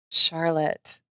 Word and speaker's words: Charlotte: Charlotte. Thank you. Yeah. All right. It's Lawlish and Charlotte. We'll get our pronunciations one day.